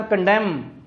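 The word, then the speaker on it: condemn: कर सकते हैं कि अगर इंग्लिश लैंग्वेज के किसी वर्ड के आखिर में M और N इकट्ठे आ जाए तो N साइलेंट हो जाता है। जिस तरह ऑटम मौसम का नाम है, AUTUMN, ऑटम। इसी तरह कंडेम, इसी तरह कॉलम। अब ये जितने भी मैंने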